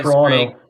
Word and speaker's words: Toronto: Toronto. We don't say the second T when we pronounce it here.